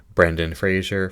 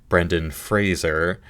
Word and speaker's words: Brendan Fraser: Colin Farrell her banshees Brandon Frazier for the whale Daryl McCormick good luck to you leogrand Paul meskel after sun and Bill Nye were living so realizing I mispronounced his name Brendan Fraser I was the front